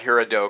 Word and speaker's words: Gerardo: But Gerardo, and again, it starts with a G, but it's Gerardo.